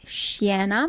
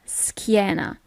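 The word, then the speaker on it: schiena: you don't pronounce it sienna but skiena okay normally when you have a c h i the sound is always k is okay it's so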